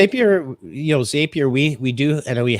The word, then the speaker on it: Zapier: well point it out i believe it is zapier just because they say it rhymes with happier so that i learned